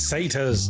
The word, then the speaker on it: satyr: Say tires? It's satyrs.